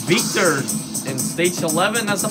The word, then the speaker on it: Víctor: Or I should say, Víctor. Because it has an accent on the I.